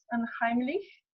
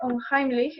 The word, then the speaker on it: unheimlich: concepto de lo ominoso, que si no mal lo pronuncio en alemán es unheimlich, y que, bueno, básicamente